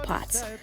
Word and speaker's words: POTS: diagnosed with pause and no I didn't say pot I don't do drugs pots postural orthostatic tachycardia syndrome